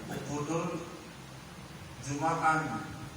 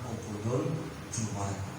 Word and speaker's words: Uqudul Juman: Bukan disebut dengan Uqudul Jumaan. Ada yang nyebutnya Uqudul Jumaan. Jadi bacanya adalah Uqudul Juman.